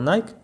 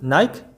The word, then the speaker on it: Nike: Donc on retrouve Nike, qui se prononce en vérité Nike comme on va le voir, Inch'Allah.